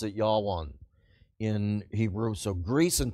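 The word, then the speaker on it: יָוָן: Javan is the land of Greece you would pronounce it ywan in Hebrew so Greece and tubol and mishek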